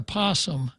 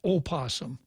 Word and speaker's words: possum: The theory is that if there is a possum, it's not pronounced opossum, except in Ireland.